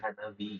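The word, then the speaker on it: 花火: jadi Jadi bukan anak anak Hanahi jadi Hanahi. Hanabi gitu. Iya, jadi kadang kalau kanji lain ketemu beberapa kanji itu kalau ketemu kanji lain bisa berubah pengucapannya. Kayak jadi dari hi jadi bi.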